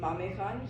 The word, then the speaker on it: Mame Khan: Okay, there's a guy called Mame Khan. I think that's how you say his name, Mame Khan.